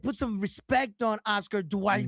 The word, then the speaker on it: Duarte: it's not going to work against Duarte.